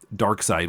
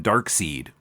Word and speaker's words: Darkseid: how to pronounce it we were calling him dark seed yeah it was much more recently that i learned that it was supposed to be darkseid and you know that's